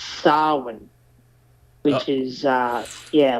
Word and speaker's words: Samhain: on the chalkboard or whatever but what what's samhain know the oh the lord of the unseen hate actually mispronounce it it's actually pronounced sarwin which is uh yeah like i'm pretty sure